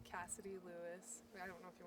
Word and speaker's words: Lewis: Make sure we get it pronounced correctly. Yes, it's Cassidy Lewis.